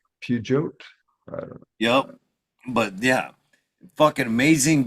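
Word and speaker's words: Peugeot: European car it's a French company pugot yep but yeah fucking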